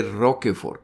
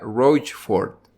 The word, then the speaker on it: Rochefort: El nombre de este señor no se dice Roquefort, como lo he estado diciendo yo. Resulta que el nombre del señor se pronuncia Rochefort.